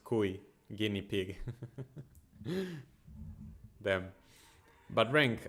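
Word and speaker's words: cuy: on the peran food I know is actually called Kai like if it's a um I guess it would be pronounced Ki guinea pig damn but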